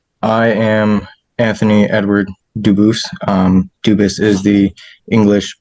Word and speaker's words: Dubus: Kansas versus Anthony Edward Dubus. Jared Regier for the state. Is Mr. Dubus present? Anthony Dubus? I am Anthony Edward Dubus. Dubus is the English pronunciation. Dubus is the original French.